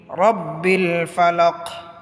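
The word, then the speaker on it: ربِّ الفلق: কুল আউজুবি কুল আউজুবি রব্বিল ফালাক রব্বিল ফালাক রব্বিল ফালাকি হয়তো কফটা লামের সাথে মিলে যাবে কলকলার উচ্চারণ হবে পাল্টা আওয়াজ দিয়ে পড়তে হবে আউজুবি রব্বিল ফালাকুল আউজুবি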